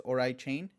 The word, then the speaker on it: Oraichain: Uh but it's Orai Chain with the little AI emphasis there in the middle.